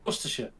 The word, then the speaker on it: Worcestershire: It's a sure. Sure. Worcestershire, Staffordshire, Cheshire.